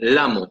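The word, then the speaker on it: Lhamo: La autora de este disco se llama Yunhen Lamo, se escribe L-H-A-M-O, Lamo. ¿Ok?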